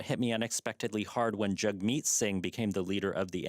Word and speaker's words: Jagmeet Singh: So Jagmeet Singh. So Jagmeet with a soft T and Singh with like a kind of throat sound.